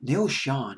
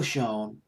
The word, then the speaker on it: Schon: Jonathan Cain, song written by Steve Perry, of course, and Neil Schon, I believe is how you pronounce his last name. The German pronunciation is Schon. It's a German word, I think, but it's Schon.